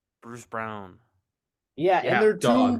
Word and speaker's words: Braun: really Yeah, You know it's pronounced Brown.